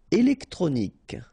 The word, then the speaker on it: électronique: Électronique, okay, so k at the end, remember Q-U-E at the end, k.